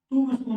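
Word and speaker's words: tombstone: इसको ट स्टन भी बोलते हैं और टूम स्टोन भी बोलते हैं दोनों ही अपनी जगह सही है ठीक है टूम स्टोन या टोम स्टोन कभी ये वर्ड सुनो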